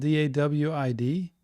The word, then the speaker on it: Dawid: And this isn't this is probably David, but it's spelled D-A-W-I-D. Dawid? I think it's David. It's just in a different language.